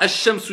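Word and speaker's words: الشمس: Je vais regarder la shidda. Là, je vois ash-shamsu yen shidda, je sais automatiquement que shin, ça fait partie des lettres solaires.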